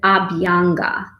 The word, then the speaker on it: Abhyanga: brushing you can practice something called a byung massage people pronounce it Abhyanga so AB young massage is just means